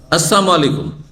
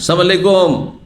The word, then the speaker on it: আসসালামু আলাইকুম: আসসালামু আলাইকুম। অনেক মূর্খ মুসলিম আছে, সালাম দেয় সালাম আলাইকুম, কি বলে তাড়াহুড়া করে, কি বলে সালাম আলাইকুম।